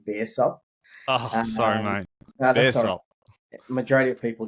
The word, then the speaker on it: Baresop: do sure so firstly a lot of people pronounce this incorrectly it's actually Bears up sorry mate majority of